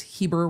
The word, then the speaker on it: Heber: Either way, all of you are telling me it's Heber with like long ease.